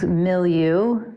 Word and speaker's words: Millu: So the name of the project is Millu, and it's spelled Millu. Millu. Okay. Yeah, but it's not like milieu. But it is actually, it's from that word. Okay. So it's like the French word milieu.